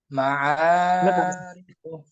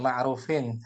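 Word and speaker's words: معارف: muayanin makrufin lana fa iya idzan makrufun Ma'arifu. makrufun tadi Yang motor makrifan ucapan ain. A gitu. A. ma'rufin Bukan ma'rufin. Hati. Yang benar bacanya. Ma'arifu.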